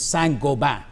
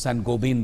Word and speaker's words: Saint-Gobain: The other firm which has got a huge imprint in India is Saint-Gobain. It's pronounced as Saint-Gobain by Indians, but it's Saint-Gobain.